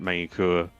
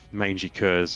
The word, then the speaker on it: Magny-Cours: minute sprints here at main cour or mangy kurz as some people like to pronounce it to annoy french people that's right yeah actually